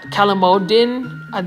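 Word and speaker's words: calamondin: So it's basically calamodin, that's how you pronounce it, but it's basically a Philippine type lime.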